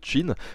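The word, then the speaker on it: Qin: ça s'écrit cas y est mais ça se prononce chine vous avez remarqué d'ailleurs que dans les épisodes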